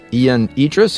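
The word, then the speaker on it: Ion Idriess: a positive influence on your life was author Ian Idis am I pronouncing the name right that's correct yeah yep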